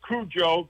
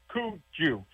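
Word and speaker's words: cuju: Not like Kujo, but Cooju. And uh the it's spelled c u ju.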